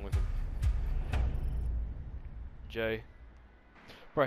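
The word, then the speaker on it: Jai: Jay. Bro, his name is spelled J-A-I and it's pronounced J.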